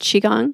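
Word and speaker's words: Qigong: Qi g o n g okay and it's pronounced chiong yeah the QI is another way to spell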